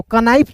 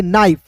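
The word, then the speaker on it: knife: तो कनाइफ नहीं पढ़ना है। इसे पढ़ेंगे नाइफ।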